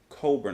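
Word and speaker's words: Cockburn: one is bruce coburn coburn i think i mispronounced his name before with humans now we've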